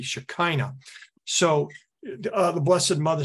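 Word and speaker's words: Shekinah: seen before until Len and phonetically in English it would be shakina so the Blessed Mother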